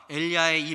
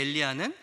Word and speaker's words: 엘리야: 엘리야의 이름 뜻 때문입니다 엘리야를 우리가 의미에 맞게 읽으려면 엘리 쉬고 야라고 읽어야 됩니다 엘리라는 말은 예수님께서 십자가상에서